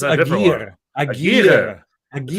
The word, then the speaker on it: Aguirre: Well, in like Spanish, it's Aguirre. Aguirre.